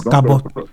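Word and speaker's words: כָּבוֹד: Ça se prononce Kabot.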